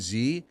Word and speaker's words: Z: and then they're like Canadians say Zed and then I'm like do I say Zed for what like I don't know for zero it's like a no like it's x y z like it's the it's a pronoun it's just something it's just something for them to stand out just a little something so wait wait wait wait XY Z yeah it's it's a British thing so I don't know